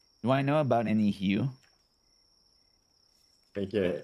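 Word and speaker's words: Heu: Hugh. Just like when you do ew, but with a H.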